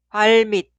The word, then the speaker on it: 발밑: Se pronuncia 발밑, 발밑, 발밑.